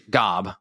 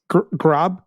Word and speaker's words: Glob: Gob. I can never say it right. It's Glob, Grod.